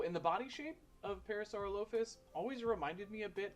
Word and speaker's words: Parasaurolophus: our musical parasaur lus parasaur lopus is is that how you say it for the longest time I used to say Parasaurolophus but I think that's wrong so dinosaurus oh and we're